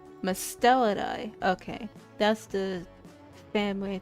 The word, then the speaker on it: Mustelidae: Mustelade. Mustelade? I need Google to pronounce this. Oh. Hold on. Musteladae. Oh, Mustelida. I said that completely wrong. I said that so wrong. Mustelidae.